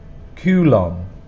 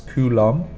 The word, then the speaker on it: coulomb: coulombs now for coulomb one of the main problems is this B at the end that we do not pronounce coulomb and at the start